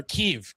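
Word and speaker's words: Kyiv: She was married to Vladimir Klitschko, former heavyweight champion of the world, boxer, and now mayor of Kiev, Ukraine. Or Kiev, sorry. That's the Ukrainian pronunciation.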